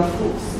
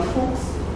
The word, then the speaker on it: Fuks: O Julian Fuchs, nós quisemos pronunciar o nome dele da maneira brasileira, já que ele é um brasileiro argentino, um argentino brasileiro.